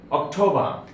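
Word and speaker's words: October: অক্টোবর, অক্টোবর, টিটা ঠা sound হবে, অক্টোবর।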